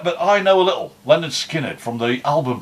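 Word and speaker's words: Lynyrd Skynyrd: I know a little Leonard Skinner from the album pronounced Leonard Skinner no that's what I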